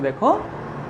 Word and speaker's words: দুঃখ: তাহলে দেখো যে বর্ণটার আগে আছে অর্থাৎ খ এর আগে আছে, খটা দেখো দুবার উচ্চারিত হচ্ছে।